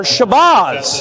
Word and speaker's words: Shabazz: Number 12, Ishmael Shabazz. Or Shabazz, as I believe it is supposed to be pronounced.